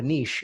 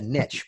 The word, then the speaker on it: niche: no no my friends it's not a niche it's a niche because niche rhymes with rich but let's go one